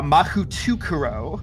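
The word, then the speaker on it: Mahoutokoro: in Japanese like this um but she she pronounces it uh mahutukuro like like like her life could her life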